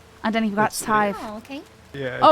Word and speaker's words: Sadhbh: Scythe. Right? Scythe? Isn't that it? Scythe. Yeah, see? Like, think of the number 5, put a s in front of Scythe. it, and then you've got It's- scythe.